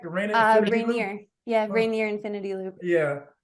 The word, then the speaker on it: Rainier: Rainier.